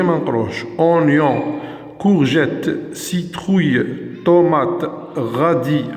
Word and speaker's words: radis: Oignon, courgette, citrouille, tomate, radis, le S منقروش.